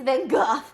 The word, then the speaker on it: Van Gogh: I don't pronounce Van Gogh. I know it's Van Gogh.